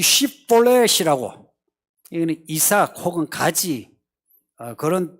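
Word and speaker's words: שיבולת: 이 발음이 무슨 차이인지 아시죠? 이거는 S 발음, 이거는 이 SH 발음이에요.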